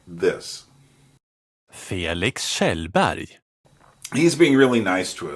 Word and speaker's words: Kjellberg: Because in Swedish, it doesn't sound that, you don't have that hard G at the end. You have another sound. It sounds like this. Felix Kjellberg.